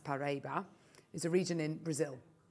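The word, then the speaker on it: Paraíba: look at this slide Parable tourmaline pronounced paraba is a region in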